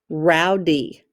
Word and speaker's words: rowdy: The Y makes the sound of E. Rowdy. If you are rowdy, what does that mean? Yeah, you're out of control. Rowdy. I hope you're not rowdy in class today. And this would be an open syllable because the E is a long sound. Rowdy.